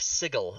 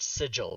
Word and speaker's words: Sigil: Chris Perkins says that the city of Sigil is not pronounced sigil, but it's Sigil.